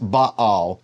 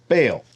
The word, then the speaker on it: Baal: say yes it's pronounced Baal or people in English speaking countries say baale and I use them interchangeably if I'm speaking and